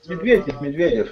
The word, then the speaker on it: Medvedev: How do you pronounce it? Medvedev. Yeah, Medvedev.